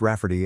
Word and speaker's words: Rafferty: to name my niece Raferty, pronounced Rafferty and not at all like Rayardy.